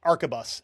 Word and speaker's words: arquebus: I'm sorry, it's arquebus is how I should have pronounced that, but I'm [